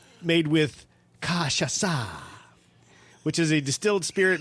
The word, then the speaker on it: cachaça: made with, we'll soon be done with these pronunciations, made with cachaça, which is a distilled spirit made from sugarcane juice, and then you add some lime and sugar. Okay. So, cachaça.